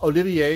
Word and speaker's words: Olivier: You know, it's not Oliver, it's Olivier, because he's French.